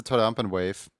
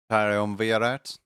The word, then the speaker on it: Triumvirate: I think your second pronunciation was right. Triumvirate. Triumvirate. Triumvirate.